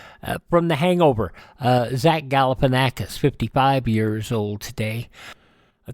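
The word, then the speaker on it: Galifianakis: here that I use for this segment it is spelled out Gan Aus galipan acus there you go from The Hangover uh Zach galipan acus 55 years old today a third generation pro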